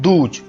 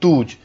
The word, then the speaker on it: douze: The pronunciation of 72 in French will be 60 douze, 60 douze।